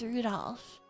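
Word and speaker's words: Rudolf: No, it's just Anyway, this guy's name is pronounced Rudolph.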